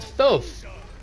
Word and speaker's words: Thoth: So Thoth is actually pronounced Thoth.